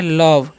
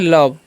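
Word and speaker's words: love: इसे हम पढ़ते हैं लव क्या पढ़ते हैं लव ओके क्योंकि ओ का उच्चारण अ होगा और इ का उच्चारण नहीं होगा क्योंकि ओ भवेल है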